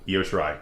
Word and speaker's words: Io Shirai: Io Shirai, that's how you say it.